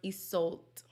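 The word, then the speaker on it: Iseult: to the man versus my name is pronounced isolt isolt okay it's an irish name famous from the movie tristan and okay nice to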